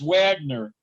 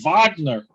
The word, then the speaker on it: Wagner: set with yeah uh wagner mora so it his name is wagner but you know it's the wagner it's pronounced different yeah it's like it's like a german pronunciation he's a brazilian though